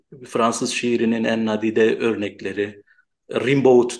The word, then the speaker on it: Rimbaud: şiirinin en nadide örnekleri, Rimbaud diyorduk o zaman, Rimbaud diye okunuyormuş mesela, bunu bilmiyordum. İşte Hatta Rambo diye okunuyor. yani işte biz onu mesela Rimbaud şeklinde okuyorduk ve ilk kez ben üniversitede onun Rambo şeklinde, aslında o da yanlışmış.